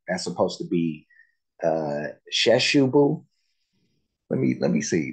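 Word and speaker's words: Kyrkjebø: that uh it's uh the way that it looks and the way that it's pronounced are like far far away from each other um because uh I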